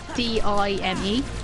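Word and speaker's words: Daim: But back when you found it in British shops, not IKEA, it was always spelled like D-I-M-E. I'm not sure why. I mean, you'd pronounce that dime anyway.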